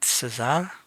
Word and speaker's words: César: So in French is his name is César, so I think I should pronounce it César if his brother is Lucien.